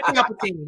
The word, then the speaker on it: Palpatine: I think you mispronounced emperor. He is Palpatine.